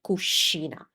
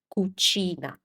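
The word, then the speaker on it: cucina: Because when in Italian you have a C followed by an I, that's always a soft C sound.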